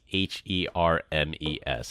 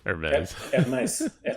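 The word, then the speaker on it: Hermès: right the company is h e r mes how do you pronounce that hers Hermes Hermes there's no Z in Hermes her Hermes it's yeah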